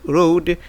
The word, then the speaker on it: road: Ici, le A est silent. Donc, le A est mieux, on ne l'entend pas.